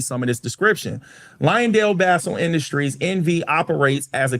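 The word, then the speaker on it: Basell: And I did some research on how to pronounce this company name. So it's Lionel Ba Bassel. Yes. It's not Basel. It's Bassel.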